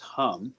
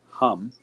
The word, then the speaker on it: HAM: should have type this it's pronounced hum and let that stimulate